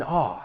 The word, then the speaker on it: awe: When pronouncing this word, it's just that vowel sound a like you would have in the word saw.